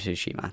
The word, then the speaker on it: Tsushima: Rest of Tsushima.